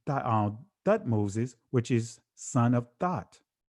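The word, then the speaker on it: Thutmose: It is a very common element in Egyptian uh theophoric names such as Tut uh excuse me, Thut Thut Moses, which is son of Thut.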